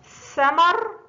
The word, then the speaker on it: ثمر: 2 ثمر، ثمر، ثمر، ثمر. هناك فرق بين نطق ثاء السين المفتوحة وثاء الثاء المفتوحة، لا بد من خروج اللسان عند النطق بالثاء.